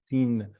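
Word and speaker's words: שׂין: You see here, the dot is the left side is sin. You pronounce it as sin. But if it's on the right side, you pronounce it shin.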